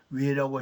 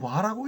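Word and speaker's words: 倭: 반이라는 것은 와라는 뜻입니다 그 와라고 읽으라고 했는데 우리가 지금까지 왜라고 읽은 거예요 그지 금 어 양자강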